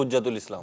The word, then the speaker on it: حجت الاسلام: ہے۔ حجت الاسلام یا حجت الاسلام یا حجت الاسلام تلفظ ہے کیا؟ حجت الاسلام تو فرض حج کو کہتے ہیں، حجت الاسلام حجت کہتے ہیں، لقب ہوگا تو حجت الاسلام۔ جی حجت الاسلام۔ تو